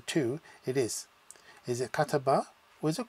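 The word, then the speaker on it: كَتَبَ: It can mean kataba, can be pronounced as kataba, which is he wrote, but also as kutub, which is books.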